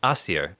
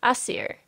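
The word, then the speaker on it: Æsir: a Shem oh um a seer a seer you might be more familiar with the pronunciation a seer mmm or as e'er Odin Thor most of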